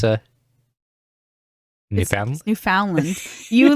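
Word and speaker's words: Newfoundland: it you were like New Foundland you just like went on about it but the first way you said it you were like new found land you like made it three separate entities I was like I'm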